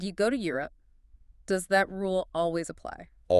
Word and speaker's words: Europe: The guide specifies the correct pronunciation is 2 syllables. Europe. Europe, not Europe, with Oh.